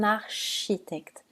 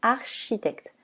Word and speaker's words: architecte: un shampoing ou un architecte attention on ne dit pas architect mais architecte certains mots d'origine grecque